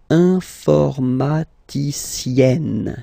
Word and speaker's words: informaticienne: And you get the sound informaticienne, sienne. Remember E and then double N, or then it could be double L or double consonant here. You open your E, so it's E. Informaticienne.